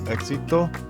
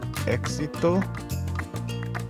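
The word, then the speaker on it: éxito: X will sound like the English X when it follows a vowel. Like for example, in the word exito, exito, which means success.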